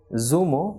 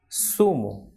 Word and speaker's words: zumo: be soft unlike English for example the person is not Zuma but it is sumo so like in English we say sir that is of the alphabet s so the same pronunciation of the same sound will be produced in Spanish for this alphabet that is Satan so the person is sumo Siragusa and cerveza she should not be Zumo Zaragoza Oh cerveza but sumo